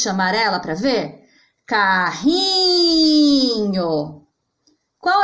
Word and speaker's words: carrinho: No caso de carrinho, carrinho é uma paroxítona, porque a sílaba tônica, que é a sílaba mais forte, que eu demorei mais para falar, é o ri, e ela está na posição penúltima.